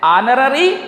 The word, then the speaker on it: honorary: సో our honest, honorary, honorarium, heiress, honorable post. So in these words we never pronounce the letter H. It means H silent words. H is silent in all these words.